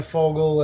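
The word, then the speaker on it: Vogel: the knowledge of Dan Fogel and spelled with a V. It's a German name, means bird.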